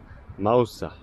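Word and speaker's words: Mağusa: name of Fusta is Mousa as I told you the g is silent like an Edan T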